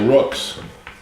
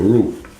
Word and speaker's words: roux: This is sort of going to be like a Rook's. A roux. Roux? But why do they spell it with an X?